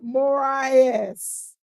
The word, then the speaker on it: Moraes: Say it one more time. Moraes. Moraes. Because you're supposed to roll.